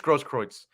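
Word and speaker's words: Grosskreutz: gage gross royce kroitz it's it's very weird pronunciation yeah gage gross kroitz that's how they were pronouncing it uh when i was watching the trial okay give me the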